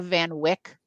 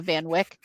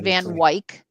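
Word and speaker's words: Van Wyck: city, like around LaGuardia, isn't that called the Van Wick? I've always heard it called the Van Wick and they call it the Van Wik and and it was on my nerves.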